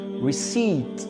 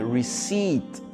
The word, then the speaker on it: receipt: La lettre P, ici, elle n'est pas prononcée. Donc ça donne receipt. On va directement du I-O-T, receipt.